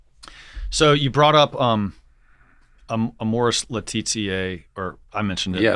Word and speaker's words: Laetitia: Laetitia.